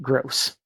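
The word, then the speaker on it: Grose: my friends from his they gr o se but I'm pronouncing it gross you know I feel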